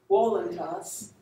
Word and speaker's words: voluntas: And if we were pronouncing our Latin in the classical way, we would say voluntas.